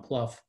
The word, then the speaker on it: Plouffe: Trail on Pluff Creek run by Bill plouffe he pronounced it it's since become Pluff and Brian was able